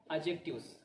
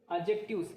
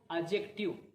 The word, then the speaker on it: adjective: Today we are going to start a new grammar topic, that is adjectives. So let's get started. Adjectives. It is pronounced as adjective, not adjective. Though D is written, but D is not pronounced.